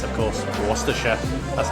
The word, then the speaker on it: Worcestershire: of the English language which is how you pronounce it so Liam parents is it worse as the Shire or Worcestershire and it's of course a Worcestershire that's how you pronounce it if you ever